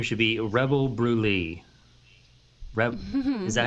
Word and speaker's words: Brûlée: Is that how you pronounce it? Brûlée? Look Like up. she said, like cream, like creme, Brûlée.